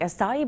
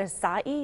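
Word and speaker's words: açaí: Acai, is that right? Acai, yes.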